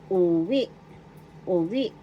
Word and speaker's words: uwi: Example. Uwi ui. Go home in English. Uwi ui. First syllable. Second syllable we. The accent is in the second syllable.